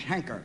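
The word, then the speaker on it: Heinker: the way I believe my name is hanker h n k r hanker you pronounce it hanker well that's what they call them a hanker well it's it's spelled with an i in it h e i n k r yeah it is isn't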